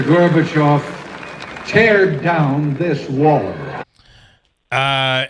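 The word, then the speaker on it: Gorbachev: well but do you remember him pronouncing it garbev no Dennis Quade here's here's the here is the actual clip all right this is the actual clip Mr gorbachov tear down this wall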